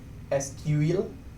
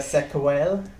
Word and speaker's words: SQL: you know like how the correct pronunciation is sql uh for the database query language and you know this is just to attract more comments the sequel uh yeah but but